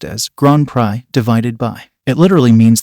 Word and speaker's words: Grand Prix: Prix these words should sound like divided by Green PRX divided by but since it's a French term it's pronounced as gr pry divided by it literally means the great prize